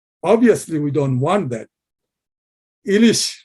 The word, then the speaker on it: Ilish: Ilish fish, but in English, they mispronounce as hilcha.